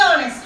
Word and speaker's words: honest: And as we all know, in this word honest, H is a consonant, but it gives a vowel sound.